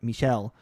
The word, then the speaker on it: Michel: sorry i almost said michael that's not how it's pronounced um it's uh michelle um he's french michelle gandry um